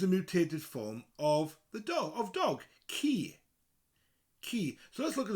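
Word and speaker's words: ci: mutated form of dog, ki. Ki. So let's look at those two words. Cor, dwarf, and ki, dog, spelled C-I, but sounds like the English word key for putting in your lock.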